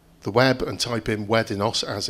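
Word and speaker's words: WEDINOS: And if you go on to the web and type in Weddinos as it's pronounced, you send your drugs to Weddinos, they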